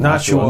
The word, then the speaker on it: Nashua: I am pronouncing Nashua.